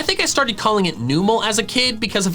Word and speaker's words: Numel: The official pronunciation is Newmal. Newmal. It's numb and camel. It's a camel that doesn't notice when it's being hit. It's literally a numb camel.